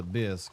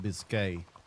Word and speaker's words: bisque: The Golden Grid over here, they selling a lobster bisque. I didn't have the heart to tell him it's not pronounced biscuit.